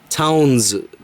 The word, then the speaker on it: Towns: of the word so they removed the E so it would just be pronounced town so it goes together